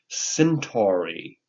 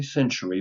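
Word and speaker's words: centaury: Centauri. Centauri. I always want to say century, but it's centauri.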